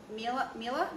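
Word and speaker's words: Miele: so i bought a i don't know how to pronounce it m-i-e-l-e mila mila i think it's called mila i never knew that i thought it was a meal um i bought a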